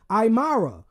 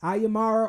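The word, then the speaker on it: Aymara: that uh indigenous population they were called the imara I believe that's how you say it is a like aimara or aara and and to them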